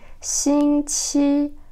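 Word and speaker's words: 星期: Alors en chinois, le mot semaine se dit xing qi. Alors voilà le pinyin. Xing, premier ton. Qi, premier ton.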